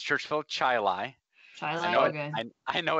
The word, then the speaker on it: Chili: At least that one was short, and I just kind of it's spelled chili, like. But yeah, it's Chai Lai.